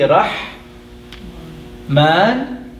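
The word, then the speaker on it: رحمن: So we are going to write the word Rah, and we have Alif Saghira, the little Alif here, although it's pronounced fully and completely Rah Man, and the sister is Rahim.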